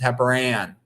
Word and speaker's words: heparan: The important thing to know, first of all, note that the heparin is spelled AN at the end. That's to differentiate it from the medicine, which is spelled IN. Heparin, this is heparan, okay?